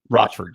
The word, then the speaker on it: Rochford: Yeah, if you think of it phonetically, two words coming together, Roch and Rochford.